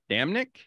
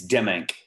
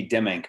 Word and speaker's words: Demmink: I pronounce it correctly it's dimming uh my my parents always say like instead I give me them ink pens it's give me dim ink pens that's kind of the easiest way the easiest way to go about it you know it's uh